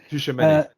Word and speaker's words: Tchouameni: Tchouameni.